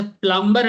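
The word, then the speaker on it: plumber: अच्छा प्लम्बर हम लोग बोलते हैं, नॉर्मल लोग देसी लोग प्लम्बर प्लम्बर चिल्लाते हैं, प्लम्बर नहीं होता, बोलते हैं प्लम्बर होता है, ठीक है।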